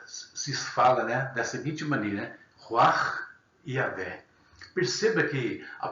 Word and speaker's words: Ruach: Na língua hebraica se fala da seguinte maneira, Ruach Yahvé. Perceba que a pronúncia aqui, ainda que a minha não seja tão boa, no caso, mas a pronúncia é quase que como um assopro.